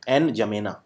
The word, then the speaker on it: N'Djamena: इसकी राजधानी है N'Djamena, ये डी साइलेंट होता है, N'Djamena, और इसकी मुद्रा है central African Frank, CFA Frank, छैड।